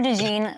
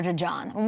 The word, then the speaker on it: DeJean: name pronunciation listen um I know it's Cooper de jeene like you know like the pants that's what I think